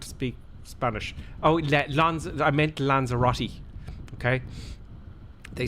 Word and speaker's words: Lanzarote: Oh, I meant Lanzarote. Okay. They say, we're going to Lanzarote. You know, Lanzarote. That's it. Lanzarote. It's Lanzarote.